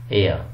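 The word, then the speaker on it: heir: क्योंकि इसकी जो साउंड है वो एच इस प्रोनाउंस नहीं होता. एयर, honour, are. ठीक है, हावर नहीं कहेंगे, हॉनर नहीं कहेंगे, हेयर नहीं कहेंगे.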